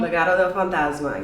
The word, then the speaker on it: Legado del Fantasma: And how do you pronounce that? Legado Del Fantasma? Legado Del Fantasma, yes.